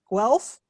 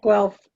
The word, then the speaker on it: Guelph: years ago from the ontario veterinary college in unpronounceable ontario wealth elf well guelph yeah guelph yep well done thank you she spent the